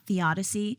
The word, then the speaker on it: theodicy: It's a little bit about theodicy. That's Theodicy. It sounds like Odyssey, so I wanted to spell it theodicy.